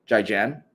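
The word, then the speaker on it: 再见: Best of luck, Jai Jan. Zaijian.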